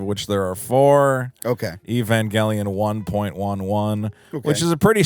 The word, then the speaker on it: Evangelion: finally made me watch Evangelion Evangelion Evangelion yes you don't have to pronounce it like an old Japanese man so I finally watched